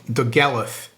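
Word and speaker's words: Dolgellau: uh yeah in a place called The gallif you spell it like doglau I'll put it on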